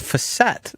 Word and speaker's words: facet: Uh, I got called on Jen Gabe Chewy by a chiropractor who said, "You guys are saying it wrong. It's facet, not facet."